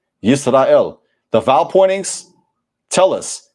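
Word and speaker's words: ישראל: In Hebrew, Yisrael, not Yasharallah, Yisrael.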